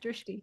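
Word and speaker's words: Drishti: I know I'm probably mispronouncing Drist Drifty. Is that how you say it? Yeah, Dristie. Yeah, Dristie.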